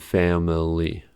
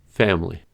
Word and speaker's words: family: Consider camera and family. In the dictionary, these words are noted as having 3 syllables, camera and family. But in everyday speech situations, these words are pronounced as 2-syllable words, camera, family.